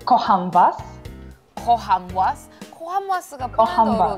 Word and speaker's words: Kocham was: So, can you say Kocham was?